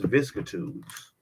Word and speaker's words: vicissitudes: What is vicissitudes?